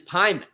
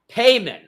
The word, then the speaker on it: Payman: Say Hyman and say it again with the H. Who plays with a P. That's how you say my name. Oh, so your name is Pyman? Payman.